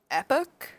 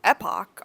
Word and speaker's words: epoch: I am absolutely horrified to report that the American pronunciation is epic. Epic. Not to be confused with epic. Apparently, epoch and epoch are both British pronunciations. I'm going to keep saying epoch.